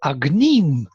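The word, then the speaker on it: अग्निम्: So Anushtup, in terms of Vedic Anushtup, yes, it has to fit the word with agnim, the stress on the second syllable, into its picture.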